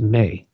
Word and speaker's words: me: tablets of destiny it was spelled em e pronounced Mae all computers that on the planet right now